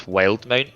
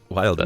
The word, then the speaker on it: Wildemount: I think it's Wildmount from the show. Wildemount. That's how they say it.